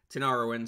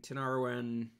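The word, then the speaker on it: Tinariwen: um alifaka toure uh tina ruin tinaroin sorry i don't know why i say it like that i said it wrong um tinarawen group 2a um group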